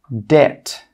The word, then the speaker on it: debt: The second rule with B is that B is normally not pronounced when it comes before the letter T. Some common examples are debt, subtle, doubt. Again, you can see here that we're not pronouncing the B in all of these words.